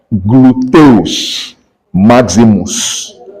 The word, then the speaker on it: gluteus maximus: In Latin, you pronounce as spelled gluteus maximus.